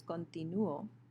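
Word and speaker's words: continúo: the O in continuo, it is the U that has the stress, so it's continuo, continuas, continua, and it's not in the last syllable.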